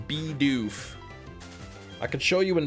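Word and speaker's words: Bidoof: Then people call it like be a doof or something. He's the mouse Pokemon, not a beaver Pokemon. Yeah, that's it's weird they call it, but it's it's still pronounced beof.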